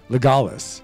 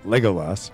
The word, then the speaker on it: Legolas: It should be Legolas, not Legolas, but whatever.